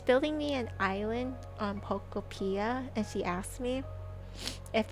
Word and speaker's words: Pokopia: It's supposed to sound like Utopia, but Pokopia. Like Pokemon and Utopia together, so Pokopia. I like calling it Pokopia more. Pokopia. She's building me an island on Pokopia, and she asked me